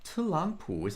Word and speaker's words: 特朗普: Now, 特朗普is actually pronounced as a fourth tone, second tone, third tone, because when we have 2 consecutive third tones in a row, the first tone in the pair is pronounced as a second tone.